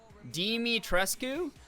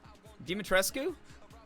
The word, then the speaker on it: Dimitrescu: mommy you know well the first one you said that was correct dimitrescue dimitrescue I would not have guessed that at all yeah it honestly